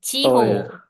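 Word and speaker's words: 地方: Oh, ini dibacanya juga ho. Ini adalah Ciho.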